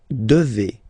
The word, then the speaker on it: devez: And then vous devez. Remember, classic ending for vous here, a Z, but then you pronounce this combination of two letters, et, devez, devez, vous devez.